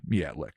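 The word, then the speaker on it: Myatlik: A 9-year-old boy named Michelle Miatlick, excuse me, M Y A T L I K, Miatlick, I'm pronouncing it, was walking with an unidentified friend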